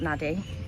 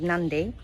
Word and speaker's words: Nadi: So all in all, this place, Saffron in Nandi, I've heard them say it now, it's not Nadi. It's spelt Nadi, but it's called Nandi.